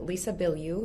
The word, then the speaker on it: Lisa Bilyeu: I was actually listening to and shared because it was such a good episode you did with, is it Lisa Bilyeu?